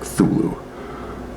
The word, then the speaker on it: Cthulhu: do you see cthulhu i guess i pronounce the age some people say like thulu i like the h i'm an h guy and there's lots of